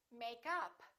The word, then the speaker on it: makeup: stress the preposition and if it's a noun we stress the first part for example makeup or i'm wearing makeup